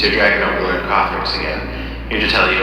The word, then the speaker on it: Kothorix: It's your dragon overlord Kothorix again, here to tell you another fun It's pronounced Kothorix, idiot.